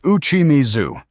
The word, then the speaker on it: uchimizu: The Japanese answer is a practice called uchimizu, pronounced uchimizu, going back to the ado period in the 17th century.